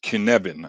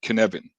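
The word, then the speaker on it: Cynefin: to a certain problem since it's Wales this is pronounced Kevan I think any Wales people will probably uh will probably hit me for that pronunciation but okay I'm going to say Kevan and it has four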